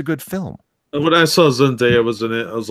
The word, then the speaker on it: Zendaya: When I saw Zendaya was in it, I was like, nah, I'm pass.